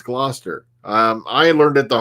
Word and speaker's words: Gloucester: so one keeps asked me how do you pronounce kill that word as it's Gloucester um I learned it the hard way because